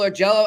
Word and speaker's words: Augello: ask our man for Buffalo hockey now Michael or Jello I don't know if I'm pronouncing your name right no you got it